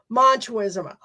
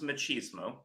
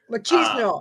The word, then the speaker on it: machismo: ex with the big manism look at that maybe he just sorry what it's pronounced machismo machismo okay I'm not oh sorry